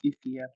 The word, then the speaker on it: Efia: It's Efia.